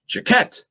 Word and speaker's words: Jacquet: It seems ridiculous, but it should be Jacquet.